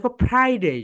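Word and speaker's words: Friday: grey ওকে এরপরে দেখ ফ্রাইডে সবাই বল ফ্রাইডে যখন উচ্চারণ করবে প্রনান্সিয়েশন করবে উপরের দাত নিচের ঠোটের সঙ্গে টাচ করবে মনে আছে তো এফ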